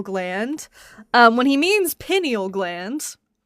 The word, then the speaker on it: pineal: on here with Mezo saying that weird penile gland last time. It's pronounced pineal.